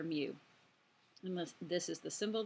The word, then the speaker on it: mu: say it should you it's not you it's mu it's the Greek letter mu unless this is the